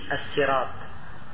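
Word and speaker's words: السراط: Demikian pula As-Sirat, ada yang membacanya pakai sin, As-Sirat, pakai sin, bukan pakai fa.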